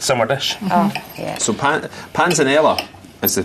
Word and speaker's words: panzanella: So panzanella is the correct pronunciation for it, isn't it?